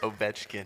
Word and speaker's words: Ovechkin: How do you pronounce it? Ovechkin.